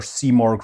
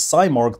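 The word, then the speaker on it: Simorgh: the year with their c mark rocket i have a whole separate video on that where i totally mispronounced its name as cymorg the whole time but now i've learned uh but yes that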